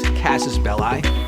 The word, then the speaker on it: casus belli: In the film that bears his name, what is John Wick's casus belli? Hostages, money, or a puppy? Casus belli or belli, depending if you use the Catholic pronunciation of Latin or the Roman.